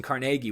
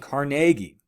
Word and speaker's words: Carnegie: I should mention, I keep saying Carnegie. All right, that's actually the appropriate way to say it. Either one is technically, correct. But at the time, he would have pronounced it Carnegie. But I know Carnegie Hall, named after him. I know that's turned into kind of the modern, kind of the popular pronunciation. Either one's fine, but Carnegie is how contemporaries would have called him.